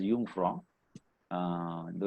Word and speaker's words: Jungfrau: station to uh jungfrau that is pronounced as jung from though it is written as j-u-j-o-u-n-g so that is the